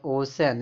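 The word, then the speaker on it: ocean: [नाक से की जाने वाली आवाज़] तो ओशन इसको क्या बोला?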